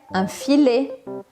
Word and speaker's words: filet: palavras menu menu tá a pronúncia sempre que é diferente baguete baguet filet filet omelete om Aliás já